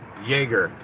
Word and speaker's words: Yeager: make a left on yager using the left lane make a left turn now it's hider that's spelled y y-e-a-g-e-r that's pronounced jaeger like chuck yeager the the pilot i do that